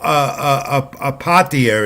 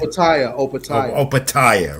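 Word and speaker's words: Opetaia: I want Joe Apatia is cruiserweight title defense also on the zone this weekend. Opatia, right? Opatia, yeah, he's and in my notes here, I made sure to put the pronunciation key right about his name because I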